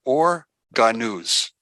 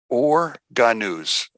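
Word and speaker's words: אור הגנוז: or, which is called or ganuz. Or ganuz. Now, for some of you, if you want to spell it out, it's O-H-R, and the second word is H-A-G-A-N-U-Z, or ganuz.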